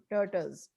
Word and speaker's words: tortoise: Okay, ये land पे रहता है tortoise. It is tortoise. अच्छा, इसकी प्रोनाउंसिएशन आज मैंने सीखी है अभी आपके साथ।